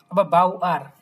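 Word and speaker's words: Bauer: এখন যদি সেন্টেন্সের লাস্টে ওয়ার্ডের লাস্টে ই আর থাকে অনেক ক্ষেত্রে দেখবেন আ উচ্চারণ করে। বাওয়া বাউ আর দুইটাই করে কোন সমস্যা নেই।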